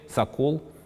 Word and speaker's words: сокол: в словаре 1847 года слова сокола тогда произносить с ударением на втором слоге sokol описывается так первое значение